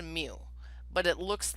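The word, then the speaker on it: μ: bar and then under parameter it's that that mu symbol so it's pronounced mu but it looks like that thing on the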